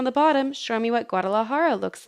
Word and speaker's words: Guadalajara: to say the word gua de la ha ha Guadalajara Guadalajara holds a yearly